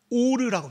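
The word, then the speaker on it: אור: 근데이 가죽옷이라는 히브리 단어가 빛을 의미하는 히브리 단어의 발음이 똑같습니다. 오르라고 니다. 오르.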